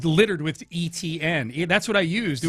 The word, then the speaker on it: Etienne: You see, I spell it ETN phonetically because you're supposed to pronounce it ETN. It's not ATN like the way you would expect.